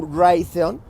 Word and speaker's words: Raytheon: Acuérdate tú, Raytheon, como rayo de Raytheon, se escribe R-A-Y-T-H-E-O-N.